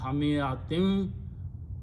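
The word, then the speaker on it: حمئة: the first vowel, then hamiyatin should be pronounced with the nun gunna, hamiyatin wa, and wajada he found.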